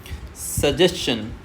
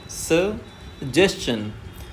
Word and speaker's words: suggestion: सजेशन सजेशन देखना है स को हमें स्लो पढ़ना है। उसके बाद में यहां से हमें लाउड कर देना है। जस्ट को तेज पढ़ना है।